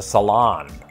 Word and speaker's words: salon: say the salon except they'd place the emphasis on the second syllable as in the salon cilantro it sounds like